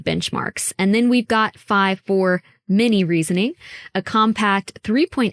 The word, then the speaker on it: Phi-4: Um, and that's I think part of what makes it so hard to pronounce is there was 53 and then it almost sounds like you're saying five, but um yeah, you're right.